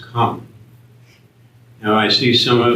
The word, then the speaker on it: cum: There's a Latin word, and it's cum, and it's pronounced come.